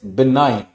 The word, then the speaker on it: benign: Word होता है बिनाइन। बिनाइन, BENIGN, लिख भी देता हूं यहीं पे, BENIGN, the pronunciation is बिनाइन।